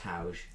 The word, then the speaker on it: Hauge: Without the R, it's Hauge.